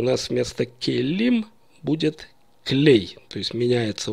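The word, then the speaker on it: כְּלֵי: есть меняется у нас окончание им на Эй и мы слышим клей Например я хочу сказать Музыкальные инструменты это будет клей Негина обратим внимание что музыкальный инструмент кли нагина и музыкальные инструменты клей гина произносятся по-разному но пишутся одинаково то есть по контексту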